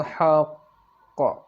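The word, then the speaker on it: الحق: Huruf-huruf qalqalah bertasydid, bila diwakafkan ditekan suaranya, ditahan 2 harakat, diikuti qalqalah. Ya, perhatikan kembali bacanya tadi. Rabbihkum bil haqq. Haqq. Jadi suaranya ditekan, ditahan 2 harakat, kemudian baru ada qalqalahnya, diikuti dengan qalqalah.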